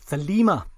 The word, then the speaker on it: Thelema: i can find likewise i'm going with the greek pronunciation of thelima so i hope that